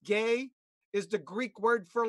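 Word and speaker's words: γῆ: Okay, that's just two letters, gamma eta, and pronounced gay, which is where we get geography.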